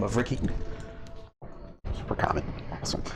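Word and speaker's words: Recci: The bartender goes by the name of Ricky. Super common. Awesome. It's R-E-C-C-I. Okay, yeah, no, that's fine. Riki, okay. Retchie? He pronounces it Ricky. It's a local spelling.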